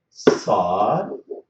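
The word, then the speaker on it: ص: So these letters, they should be pronounced. We have to push the tip of the tongue to the bottom of our lower front teeth.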